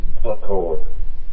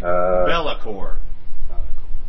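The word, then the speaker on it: Be'lakor: I've been calling them Buckor. It's BELAKOR. It's like Bellacore.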